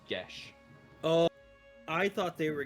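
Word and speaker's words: geas: I've always pronounced it I've always pronounced it guos like K it's it's Irish gelic which means it's pronounced GES Oh I thought they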